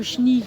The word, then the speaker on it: chenil: Mais par exemple notre chill local, nous le retrouvons dedans et on découvre qu'il s'écrit chenil. C'est chenil. Ouais. Écrit mais pas prononcé.